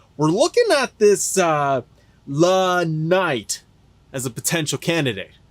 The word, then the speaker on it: LA: looking at this uh La Knight as a potential candidate La Knight Oh you mean La Knight what I say it's pronounced L A oh I I thought